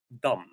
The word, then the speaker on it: dumb: And also there is a very interesting word which is dumb. Dumb. Someone who is stupid we say dumb. And uh we we write it with the last B that is not pronounced.